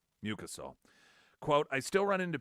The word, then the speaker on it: mucosal: It's mucosal. Had the syllable wrong emphasis. Mucosal.